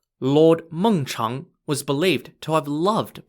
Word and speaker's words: Mengchang: leader of the state of Qi, called Lord Mengchang, was believed to have loved playing Xiangqi. Mengchang is spelt M-E-N-G-C-H-A-N-G.